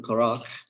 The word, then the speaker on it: Korach: Now, Korach is how you say it in Hebrew, Korach.